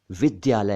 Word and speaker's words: विद्यालय: सही उच्चारण नहीं है असल में यह विद्यालय है विद्या प्लस आलय विद्या का घर या विद्या का विद्या